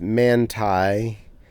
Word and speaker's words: Manti: mo movies in and manti pronounced mantai and foot loops.